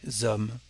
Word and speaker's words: homme: The D becomes a T, un grand homme. And the definite article before this kind of H becomes L apostrophe. We don't say le homme, but l'homme.